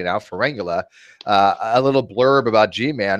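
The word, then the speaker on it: Pharyngula: By the way, I can pronounce it correctly now, Ferengula, a little blurb about G-Man, and then he's just going to leave it alone after that.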